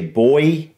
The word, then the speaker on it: buoy: you've ever seen a buoy uh I think you guys actually pronounce it slightly different I think you guys say boy something like that but